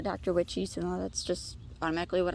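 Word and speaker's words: Dr Wiche: orange tomato plant um i think it's pronounced like a dr witch or a dr wick um it's spelled dr space w-i-c-h-e a fellow uh garden vlogger calls it a dr witchy so that's just automatically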